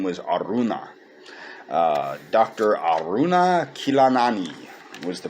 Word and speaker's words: Aruna: aruna kilanani now unfortunately i was pronouncing her name as arjuna which unfortunately arjuna is the prince in the baha gaveta that krishna talks to for some reason i thought that her parents had named her after arjuna not the case so i misspoke her name was aruna dr aruna